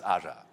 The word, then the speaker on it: Ara: I mean, actually, if you wanted to pronounce it correctly, it's Ara. What language is that?